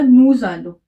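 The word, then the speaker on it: nous allons: था देखो नू के बाद देखो इस वर्ड के लास्ट में क्या है एस और जो इस वर्ड के बाद जो वर्ड है वो वॉबल से स्टार्ट है तो हम इस वाले एस को प्रोनाउंस करेंगे वैसे जनरली एस प्रोनाउंस नहीं होता बट इस वर्ड के बाद वर्बल है तो इसे हम एस को प्रोनाउंस करेंगे तो ये हुआ नूज आलो इसका मीनिंग हुआ वी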